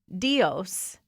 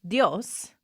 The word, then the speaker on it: Dios: But he says Dios, which no one pronounces it that way. It's Dios. Kind of like yes, technically two syllables, but you just say, it would be like saying, go with God.